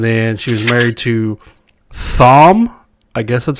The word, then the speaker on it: Thom: she was married to thom i guess that's how you pronounce it which is brim t-h-o-m latimer that's bran the h is silent i would assume yeah his name's thomas